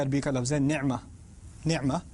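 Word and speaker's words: نعمة: لفظ ہے نعمہ۔ نعمہ عین کو میں ذرا زور سے اس لیے پڑھتا ہوں کیونکہ میں عربی پڑھتا رہا ہوں اور پڑھاتا رہا ہوں، تو مجھے اردو کے تلفظ سے ذرا الرجک ریاکشن ہوتا ہے، تو میں نعمہ ہی کہتا ہوں۔ ہمارے ہاں مجھے پتہ ہے نعمت کہتے ہیں، جب بھی میں نعمت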